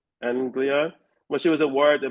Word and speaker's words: East Anglia: And how do you pronounce that word? East Anglia Anglia when she was awarded the Malcolm Bradbury memorial b sorry and won the UEA Orion short story prize.